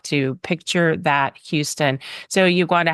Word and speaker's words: Uguanda: hard uh for a lot of people to pronounce my first name but I am not opposed to being called Uganda which is my given name and um yeah